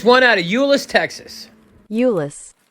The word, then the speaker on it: Euless: Euless. I just looked up how to pronounce it.